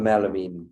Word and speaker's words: Ameen: Amel Ameen.